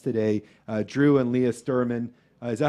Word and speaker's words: Stuerman: our second guest today uh drew and leah sturman is that how you pronounce it yes okay uh incredible company uh